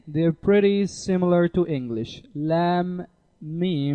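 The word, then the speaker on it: لا: the last letter is lamb Al if it is mixture of two different letters lamb plus Al it's called lamb Al and it is pronounced la la also means no in Arabic so these two letters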